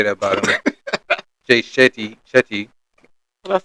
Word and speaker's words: Shetty: Jay Shetty.